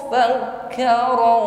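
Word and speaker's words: فكر: Innahu fakkara wa qaddar. Nun tasydid, ghunnah musyaddada. Dengungkan ya, jangan keburu. Innahu, tapi sempurnakan dulu dengungnya. Innahu, hu panjang 1 alif, mad silah qasirah. Fakkara, kaf tasydid ditekan membacanya. Fakkara wa qaddar.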